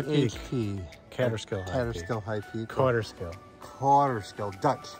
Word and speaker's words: Kaaterskill: Kaaterskill, Dutch pronunciation.